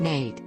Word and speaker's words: Nat: the harder they fall nat love pronounced nate was born into slavery